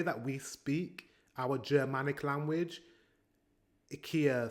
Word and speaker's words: IKEA: of Stockholm in Japan we also pronounce it Ika just like the sweds I don't understand why Americans pronounce it I Ika it makes no sense we say Ikea as well in the